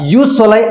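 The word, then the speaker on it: jus soli: आता याची स्पेलिंग जरी जे पासून सुरू झालेली असली त्याचा उच्चार जगभरात युस सोलाई असाच केला जातो म्हणजेच काय जन्मसिद्ध नागरिकत्व।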